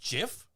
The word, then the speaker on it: GIF: the guy who says when the guy who created the graphic interchange format says that it's pronounced jif that's the [ __